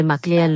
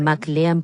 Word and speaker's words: McLean: Okay, pero si dijiste mi nombre correctamente y la mayoría de la gente pronuncia mi nombre Maclean, lo cual para ser justo es como se escribe derecho. Y tengo familia en Canadá y lo pronuncian McLan, por lo que no es raro para la gente a pronunciar de esa manera.